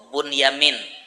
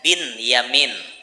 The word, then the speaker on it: Binyamin: ading Nabi Yusuf tuh Bunyamin. Bunyamin tuh asalnya Ibnu Yamin. Ibnu Yamin bisa dibaca bin Yamin atau dibaca bun yamin boleh.